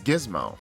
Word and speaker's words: Giz: Glad that with the way it's spelled that is pronounced Giz instead of the other thing.